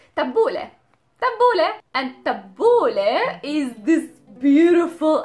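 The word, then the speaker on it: تبولة: This is why we pronounce it as an A, tabbouleh. The next letter for today is the waw, the w letter.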